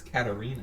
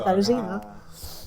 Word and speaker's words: Katarzyna: I thought it was Katarina. Well, yeah, but the way you should pronounce it is Sorry. Katarzyna.